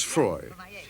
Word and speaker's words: Froy: frail English governess, Miss Froy. As played by Dame May Whitty in The Lady Vanishes in 1935, how could Margaret Lockwood possibly guess the truth? Sorry, I can't hear. Oh, it rhymes with joy.